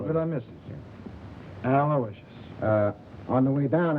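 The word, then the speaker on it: Aloysius: guy I guess you deserve a break yeah spell that middle name right it's a l o y s i u s aloicious sure how good I miss it aloicious uh on the way down I picked up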